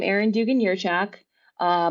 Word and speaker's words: Jurchak: my name Aaron Dugan yurchak uh most people say jerjack but the the J is actually pronounced as a ferror why um so it's Aaron